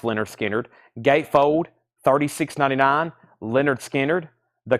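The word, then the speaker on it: Lynyrd Skynyrd: skinnard their debut album which is called pronounced Leonard skinnard gatefold 36.99 Leonard skinnard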